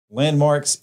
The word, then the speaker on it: Landmvrks: today is from landmarks landmarks is spelled l-a-n-d-s m-v rks kind of play you know the upside down a yeah i don't